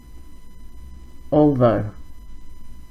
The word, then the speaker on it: although: This one is although. It sounds similar to also.